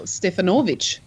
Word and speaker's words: Stefanovic: Last name Stefanovich. How would you say that name? Yeah, well, you'd say, I know who you're talking about. It's the great Karl Stefanovic. So Stefanovic would be the correct pronunciation.